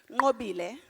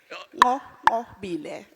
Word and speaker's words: Nqobile: You'd say it properly. Nqobile. You just have to click. Nqobile.